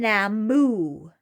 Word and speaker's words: Nammu: Nammu. Nammu.